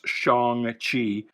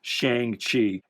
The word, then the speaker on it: Shang-Chi: I was complaining about how they pronounce Shaung-Chi. Uh and uh he wanted to know if this was now Shaung-Hala. No. No, no, no. It is Shang-Hala and this will forever be Shang-Chi in my mind, anyway.